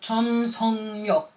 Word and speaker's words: 전속력: It's spelled this way, but it's kind of pronounced as 전속력.